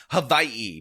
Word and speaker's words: Hawaii: And yes, I just overethnically pronounced Havaii because that's that's what you're supposed to do with that particular state.